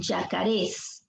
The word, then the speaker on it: yacarés: de los yacarés yacarés te das cuenta de la pronunciación yacarés aquí está la fuerza de voz esta es una palabra aguda si es una palabra